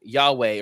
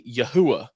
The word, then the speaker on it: Yahweh: people who are calling instead of saying Yahweh or any like kind of academically accepted pronunciation of the Divine name um they'll say you they'll say yahuwah and uh instead of Yeshua they'll say yahusha and I laugh and